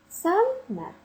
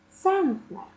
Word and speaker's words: центнер: склад міліметр сантимет кілометр але не відносьте туди ж і слово ценнер ну ніяк в українській мові не буде центнер Тому що у цьому слові захована грошова одиниця цент у який наголос падає на перший склад тому центнер складні слова по типу